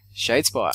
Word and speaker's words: Shadespire: Shadespire? Is that how you pronounce it? It is. Shadespire.